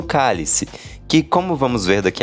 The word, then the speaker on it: cálice: Chico percebeu que a palavra cálice, no caso o objeto, tem a mesma pronúncia do verbo calar conjugado no imperativo.